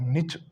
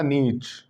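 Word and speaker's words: niche: इस प्रकार नीश बोलते हैं हम किसी एक पर्टिकुलर फील्ड में. लेकिन इसको आप निच या तो शॉर्ट में बोलोगे तो क्या बोलोगे? शॉर्ट में नहीं कहेंगे, मतलब दूसरी प्रोनाउंसिएशन अगर आप बोलोगे इसकी, या तो आपको बोलना नीश. अब लंबा नहीं बोला, नीच. नीच वाला बोलना चाहो तो नीच होगा. फिर निच.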